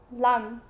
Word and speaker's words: lăm: Any other number with the number 5 in it is pronounced lăm.